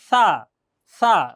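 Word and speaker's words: ث: সা, জিহ্বা বের হবে, সা, সা, আমার মুখের দিকে একবার খেয়াল করলেই হয়ে যাবে ইনশাআল্লাহ।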